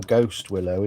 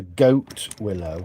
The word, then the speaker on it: goat willow: It's not a ghost willow either, it's a goat willow. I said it wrong in the video. I said ghost willow, but it's not, it's goat willow.